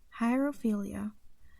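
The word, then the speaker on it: hierophilia: interest was something called Jairo philia it's spelled h IE r o ph IL i hire ophelia which according to sex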